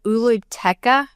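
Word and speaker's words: Oolooteka: Lake Uluteca.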